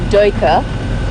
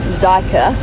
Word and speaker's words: duiker: Now the UI in that particular instance, to the best of my knowledge as an English-speaking South African, in Afrikaans is pronounced oi, so duiker rather than duiker.